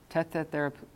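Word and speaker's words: τεθεράπευκα: So instead of thethe, they say tethe. Tetherapuka.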